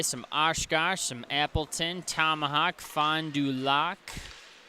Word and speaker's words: Fond du Lac: Some Oshkosh, some Appleton, Tomahawk, Fond du Lac. Might be Lake, but it's spelled L-A-C.